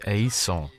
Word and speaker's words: haïssons: Nous haïssons. Because the H is silent, it's tricky, so it was talking about hatred was just tricky.